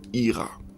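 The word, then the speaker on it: יראה: par le mot ça se dit en hébreu ira voilà et en hébreu ça s'écrit avec la lettre avec les lettres pardon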